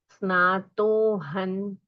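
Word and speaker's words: स्नातोऽहं: स्नातो हम धर्म तीथेशु स्नातो हन धर्म तीथेशु जिेंद्र तव दर्शना अभी यहां धर्म तीर्थेशु में धकार है सो त थ द ध न उच्चार होना चाहिए अनुस्वार का न तो धर्म तीथेशु जिेंद्र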